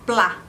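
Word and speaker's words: plat: letra T só que a letra t ela também não se planos não se pronuncia por exemplo a palavra plá plá de pode ser de prato de uma comida ou pode ser de plano também tem significado também então pla termina com t mas você não a pronúncia inclusive mesmo se a palavra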